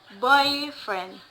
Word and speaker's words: boyfriend: The stress again the stress is placed in the first word, boyfriend, boyfriend.